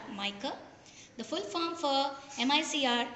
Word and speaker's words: MICR: This type of a device, it's called as mica, spelt as, if you pronounce it, it is MYKER, mica.